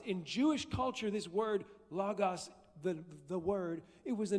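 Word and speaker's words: λόγος: It's spelled logos, but it's pronounced logos, if you want to be fancy. Or you can just say logos like I did till I was like 32.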